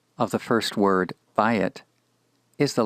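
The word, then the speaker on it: בַּיִת: Bayit, bayit. Again, the accent is on the first syllable in this particular word.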